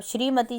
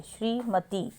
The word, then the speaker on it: श्रीमती: हमारा है शब्द श्रीमती अब श्रीमती जब बोलते हैं तो त पर बड़ी की साउंड आती है श्रीमती श्रीमती जब बोलते हैं तो हमारी त पर बड़ी की मात्रा की साउंड है श्रीमती उसके बाद निरोग निरोग